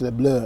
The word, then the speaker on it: Les Bleus: Yeah, the Le Bleu, massive game, pronounced Le Bleu, yeah.